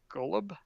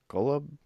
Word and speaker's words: Golub: Do you know how to pronounce it? Golub. Golub.